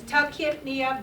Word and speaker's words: tachypnea: So the Y is silent here. So it's tachypnea, brunipnea.